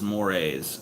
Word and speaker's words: mores: TJ Moores is pronounced mores. Okay, thank you. Social mores.